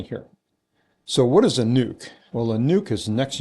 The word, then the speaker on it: NUC: So, what is a nuke?